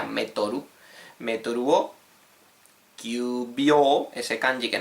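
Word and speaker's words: メートル: En japonés se pronuncia metoru.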